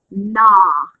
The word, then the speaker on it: gnaw: Gnat, gnaw, nod, gnawing, gnash, gnashed, gnashing, gnarl, and gnarled. Remember, GN is pronounced N.